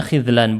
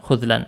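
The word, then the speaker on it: خذلان: Apakah ada dua versi tapi kalau di mujam alghani bacanya khizlan bukan khuzlan Maaf dikoreksi ya Min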